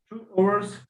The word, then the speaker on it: hour: 2 hours, 3 hours, 4 hours. You can't say 5 hours, 3 hours. The H sound is a silent sound. You should say an hour. An hour.